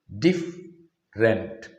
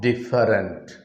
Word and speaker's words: different: pronounced as different difference different here also the vowel sound is dropped it is diff rent diff rent not different different next word is also